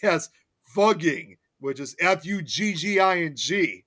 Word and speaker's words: Fugging: And now it's pronounced as fugging. which is Fugging, not Fucking before.